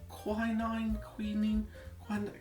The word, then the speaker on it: quinine: get the right kind, it contains something called quinine. Hang on one second, I'm just gonna look that up. How do you pronounce that word?